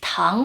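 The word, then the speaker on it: 糖: Sugar, tang, has the same pronunciation of Tang in the Tang Dynasty.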